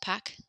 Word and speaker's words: Pâques: Pâques, it's just pronounced Pâques, like Pac-Man.